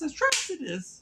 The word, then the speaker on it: Atrocitus: ] pronounce his name when they say his name it's atrus atrus is by far